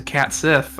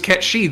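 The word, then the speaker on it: Cait Sith: FF7 remake also commits to Cat Sith or whatever. But they're wrong. Which is, aside from just being, wrong objectively, is also not how you pronounce it in Japanese. No. In both those games, it was Ketshi the entire time, and Kate Sith is entirely a localizer invention.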